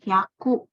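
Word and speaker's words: 百: Hyaku. Nih, hyaku. Nah, kalau kita mau sebut 101 gimana? Ya udah cara bacanya 100 ditambah 1 gitu.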